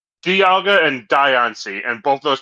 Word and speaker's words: Dialga: previous issue there, Angus, I pronounce Dialga like diamond and Diancie like diamond. The official pronunciation is Dialga. Dialga, interesting. You'd think it is Dialga because, like, a time dial and diamond, but no, it's Dialga.